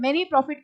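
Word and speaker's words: mesne: claim of many profit, ये एक word होता है एस साइलेंट होता है, many profit कहते हैं, जो अभी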